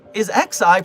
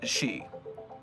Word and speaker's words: Xi: Is XI pronounced Chai? Is that right? Kai? XI. It's not Xi like China. Xi pronounced the taxi. It is she.